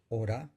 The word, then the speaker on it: ahora: sonidos veamos algunos ejemplos ahora y oro ahora tiene 4 grafemas pero la h no se pronuncia y coge en estas